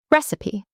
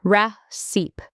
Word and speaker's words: recipe: Recipe. People often say recipe with 2 syllables, but it's actually 3 syllables. Recipe. It ends with P, not seep.